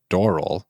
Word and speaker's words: Doral: I'm going to say his name the way he said it, which is Doral, which... Oh my God, have I been saying it wrong every time? Which I have to now retrain myself. Oh. Yeah, emphasis on the door.